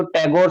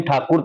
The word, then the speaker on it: ठाकुर: बताना चाहता हूं जो टैगोर सरनेम है असल में इनका सरनेम ठाकुर था लेकिन अंग्रेज जो है ठाकुर प्रोनाउंस नहीं कर पा रहे थे तो